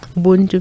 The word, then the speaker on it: Ubuntu: Am I pronouncing this correctly? Ubuntu? Ubuntu, mm-hmm.